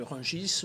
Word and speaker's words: Rungis: la même façon que rungis normalement ne devrait pas prononcer le s à la fin de me dire j